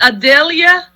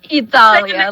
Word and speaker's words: Idalia: I just wanted to say too, and is it Adelia? Did I say it right? Idalia, like the letter E.